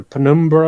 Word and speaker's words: Penumbra: That how do you pronounce it? Numbra or Penumbra or whatever?